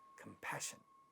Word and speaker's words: compassion: Compassion, again this is a stressed syllable, pa at the initial position getting aspirated in this word, and it sounds as compassion, compassion.